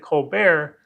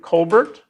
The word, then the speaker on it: ColBERT: Contextualized Late Interaction, and he pronounces it Colbert because Stephen Colbert has a show full of contextualized late night interactions. But you can also pronounce it Colbert.